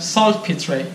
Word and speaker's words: saltpetre: This is called saltpetre. Is that correct? Saltpetre. Yeah. Saltpetre? Yeah, that's how you pronounce it.